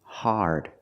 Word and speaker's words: hard: The word is pronounced hard. It's an open sound, R, connected to the R, like when you say car and far.